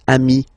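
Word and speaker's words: amis: But then technically you pronounce it the same way. So singular form amii plural form you add this s but it's amii as well.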